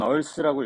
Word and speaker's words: 3ARTH: 그리고 이제 이건 얼스라고 읽으면 되는데, 이제 처음에 2019년에 저희가